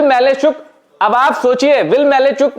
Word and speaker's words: Malajczuk: उस खिलाड़ी का नाम है विल मैलेचुक। अब विल मैलेचुक अब आप सोचिए विल मेलेचुक ये बड़ा कठिन प्रोनंसिएशन है।